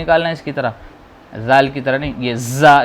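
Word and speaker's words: ذال: یہ زال. جیسے سا کا پرننسیشن تھا، تلفظ تھا، ایسے ہی زال کا ہے. جیب کو دانتوں کے بیچ میں رکھنا ہے اور یہیں سے نکالنا ہے، نیچے والے دانتوں کے.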